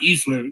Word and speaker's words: Easler: My brother used to come in the clubhouse, and everybody's calling, "Hey, Easy," because Mike Easler, Easy rhymes with easy.